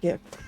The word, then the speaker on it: GIF: have a we okay GIF is obviously pronounced gift oh no it's Legion